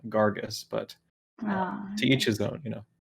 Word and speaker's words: Gragas: He would be maligned if I were to pronounce Gragas's name in that way, as he likes to call him Gargus.